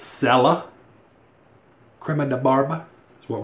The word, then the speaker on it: Cella: never used it sella i've always pronounced the chella but i was corrected it's sella crema de barba that's